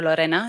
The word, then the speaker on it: Lorena: My name is Lorena, or Lorena, if you can roll your R's.